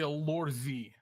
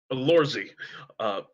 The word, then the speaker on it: Lorzi: Yeah, the Lorzi. Lorzy. He pronounces Z hard.